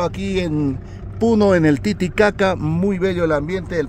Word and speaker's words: Titicaca: es el significado de Titicaca? Ya, la pronunciación correcta del lago. No es Titicaca, no, es Titicaca. Caca, ¿no? Con la K. Se tiene que pronunciar la K. Esa es la pronunciación correcta, ¿no?